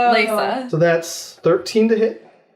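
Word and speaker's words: Leysa: going to try and I think we've all said it differently I think we should ssaa it's l e Ys a Lisa so that's 13 to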